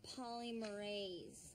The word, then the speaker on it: polymerase: r as C except it's pronounced polymerase with a z like an enzyme is what it is